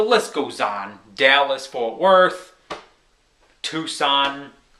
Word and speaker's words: Tucson: goes on Dallas for Tucson not Tuscan like my brother pronounces it always major cities you